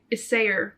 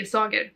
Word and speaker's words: Isager: It's hand-dyed mohair and Isager mohair. That's how you pronounce it. My Swedish ass want to say Isager, but yeah, the shaping, it's not, my mom got it.